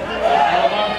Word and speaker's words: Ottobar: Auto Bar, is that how you say it? Auto Bar?